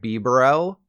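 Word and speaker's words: Bibarel: power of something like B Burrell and yes that's that's how it's pronounced so if you're a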